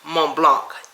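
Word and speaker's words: Mont Blanc: MLANC. You don't pronounce the T.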